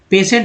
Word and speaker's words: patient: के बता रहा हूँ, स्पेलिंग पेशेंट का PATIENT, पेशेंट बोलते हैं, स्पेलिंग ये है। तो बहुत सारे लोग सोचते हैं कि भाई पेशेंट कैसे इसको पढ़ते हैं, तो कारण ये है कि भाई TI को जो है स बोल रहा है, TU को च बोला जाता है।